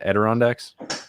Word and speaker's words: Adirondacks: Adirondacks?